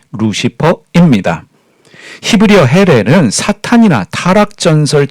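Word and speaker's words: Lucifer: 해례를 라틴어 루치페로로 번역했습니다 루치페르의 영어 발음이 바로 우리가 사용하고 있는 루시퍼입니다 다시 한번 말씀드리면 라틴어 루치페로의 영어식 발음이 루시퍼입니다 히브리어 헬에는 사탄이나 타락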